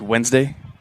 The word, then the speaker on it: Wednesday: d sure just like wednesday nobody's wednesday yeah nobody actually pronounces the d yeah rod the jurors